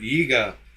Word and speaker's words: Jäger: Jaeger. But it comes from the German word Jäger.